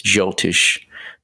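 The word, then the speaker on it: Jyotish: better words Vedic astrology the proper term is jiltish and that's spelled j-y-o-t-i-s-h and um in that science uh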